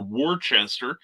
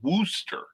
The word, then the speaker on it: Worcester: w-o-r-c-e-s-t-e-r which would be like woosh worcestershire or warchester it's pronounced their wooster so thus my hesitancy to pronounce some of